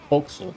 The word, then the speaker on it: forecastle: Folksel. Oh yeah, it's like one of those dumbass English town pronunciations.